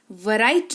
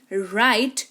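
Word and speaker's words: write: वराइट नहीं राइट यानी कि लिखना।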